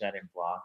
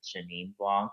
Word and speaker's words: Chenin Blanc: yeah, and I love when he mispronounced his Chenin Blanc. I think he said Janine Blanc.